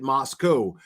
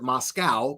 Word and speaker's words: Moscow: Moscow, outsiders pronounced it Moscow, but locals said outsiders pronounced it Moscow, but locals said Moscow.